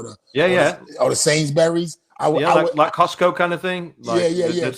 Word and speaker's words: Sainsbury's: the other one yes the way that you Americans say things does make me laughing sains berries Sainsbury's it was a sidewalk